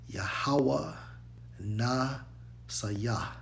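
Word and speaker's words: יְהוָה נִסִּי: All right, so for that term, it's actually Strong's H30 and 71, pronounced as from right to left, Yahweh Nasayah. Yahweh Nasayah. Okay? That's how you pronounce that.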